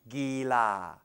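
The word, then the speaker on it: กีฬา: Gila, the Thai word for sport, gila.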